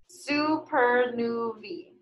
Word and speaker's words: supernovae: Most supernovae, that's the plural of supernova, and it's pronounced, oh, I pronounced it wrong, supernovae, come from massive stars.